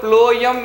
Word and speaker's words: phloem: elements second one is companion cells third one ployum fibers and fourth one ployum parenchyma so while pronouncing the word ployum means ploy m so you have to write